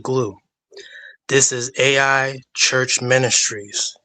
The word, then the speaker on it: Gloo: There's this company called GLOO called Glue. It's pronounced Glue.